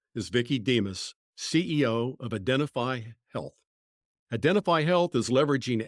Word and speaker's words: Identifeye: So the name Identifeye, Identify, you've replaced the Y with the last letter Y, now becoming the word I.